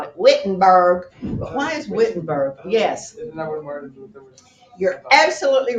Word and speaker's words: Wittenberg: come back from he goes to college in vinton burg Germany you world history students and reclamation students why is fitting burghers pronounced baton vibrating we call it wittenberg wise Wittenberg yes you're absolutely writing nailed his